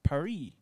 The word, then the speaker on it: Paris: you know paris france in english they pronounce it paris but every one also pronounces it without the s sound like the french do okay that's the all